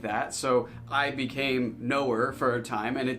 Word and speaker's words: Noer: So, the channel's name is pronounced Noer.